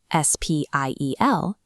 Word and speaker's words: Spiel: If it's paired with a P, they make a shp sound.